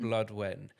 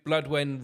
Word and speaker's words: Blodwen: How do we pronounce it? Because it's a Welsh name. Is that correct? Blodwen. Blodwen. And so Blodwen Rocks the Boat.